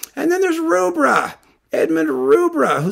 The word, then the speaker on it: Rubbra: And then there's Rubbra, Edmund Rubbra, who some person told me his name should be pronounced something like Rubber or something like that.